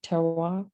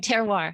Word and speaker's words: terroir: I think that fits right into that, correct me, terroir. I can't speak French, help. The last one, terroir.